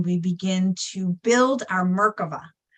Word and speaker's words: merkavah: begin to build our merkavah right which is the Hebrew version of merkaba some people call it merkaba or merkaba I like to pronounce it the Hebrew name which is merkava but nonetheless it is